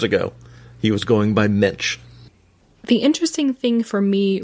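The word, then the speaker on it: Moench: I believe it is Munch, and that is according to a once long ago Marvel put a pronunciation guide.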